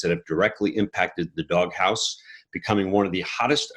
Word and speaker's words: Dog Haus: he's the senior vice president of marketing at dog house dog house is spelled with an h-a-u-s for those of you